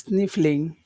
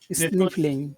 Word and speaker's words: sniffling: phrase yeah it's sniffling sniffling okay sniffling where's the where's the accent in that in that word is it on the first syllable is really kind of you could pronounce this as three syllables sniffing if you want